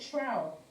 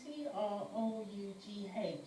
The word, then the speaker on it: trough: times, yeah, of is that word, is it trow for the blood glucose levels, yeah, is it trow, is that how you pronounce it, trow? I don't know. T-R-O-U-G-H, is that trow?